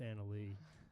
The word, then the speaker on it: Anna Leigh: It's not Anna. It's Anna Leigh.